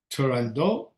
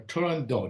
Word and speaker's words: Turandot: production of the opera Turandot or Turandot. Now, I looked this up for the pronunciation. Apparently, if you're Italian, you say Turandot. Otherwise, it's Turandot.